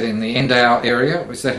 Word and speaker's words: Endau: You said in the Endau area. Was that how I pronounce it?